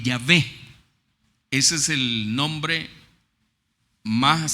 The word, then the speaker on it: Yahweh: Y que la mejor pronunciación de ese nombre, el nombre que le han puesto, la traducción que le han puesto, es Yahweh.